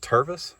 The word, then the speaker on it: Tervis: And my bird cup from, is it Tervis?